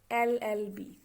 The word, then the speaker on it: LLB: which the these words are starting with the consonant but when we pronounce them we are getting the vowel sound llb okay so in all